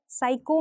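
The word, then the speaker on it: psycho: रहे हैं बोलते टाइम यह लेटर जो पी है साइको में पी लेटर हमेशा साइलेंट रहता है सो हमें यह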